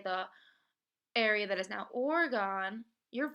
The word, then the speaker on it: Oregon: with the words too for example Oregon the state just south of Washington it often went miss pronunciate it as Oregon but if you go to the west post and you say Oregon you might get yelled at because it is Oregon so when you're teaching